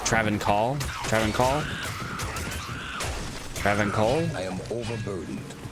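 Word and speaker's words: Travincal: It's not Travincial. I think it's like Travancore.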